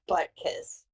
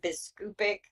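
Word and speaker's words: Biskupic: business right they had I always want to say his name is butt kiss but that's not it it's stupid I think you had biscupic and then you had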